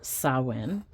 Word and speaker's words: Samhain: So it looks like Samhain, but it's pronounced Samhain.